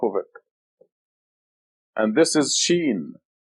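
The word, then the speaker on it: ش: And this is Sheen. The name of the letter is Sheen, and it's equivalent to the English SH, as in show.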